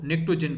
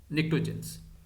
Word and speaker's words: pnictogen: और ये हमारे पास ग्रुप 15 है, ग्रुप 15, जिसको हम जो है वो निक्टोजन कहते हैं। स्पेलिंग जो है वो PNICTOGENS, निक्टोजेंस।